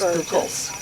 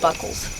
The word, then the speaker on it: Buchholz: You know, got one of our friends that comes down deer hunting, his brother-in-law, his name is Buchholz, but they pronounce it Buckles.